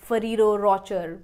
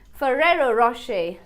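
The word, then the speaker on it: Ferrero Rocher: seventh so when आई वाज आय used तू pronounce this Italian chocolate brand आज फेरी रोकर mummy मेरे को रोकर वाली चॉकलेट खानी है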